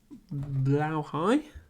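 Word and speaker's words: Blåhaj: Although, before we do that, I will put the book back and get the blow high.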